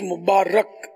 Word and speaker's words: مبارک: اس کا تلفظ مبارک، را پر زبر آئے گا، را کے نیچے زیر غلط.